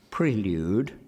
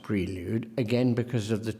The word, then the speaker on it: Prelude: says very very clearly prelude not Prelude Prelude despite the fact that in Great Britain as the dictionary says Prelude prevails prevails or prevails perhaps we could hear preludes one I'm I can't bring myself to say Prelude but I know it's what he said please now I thought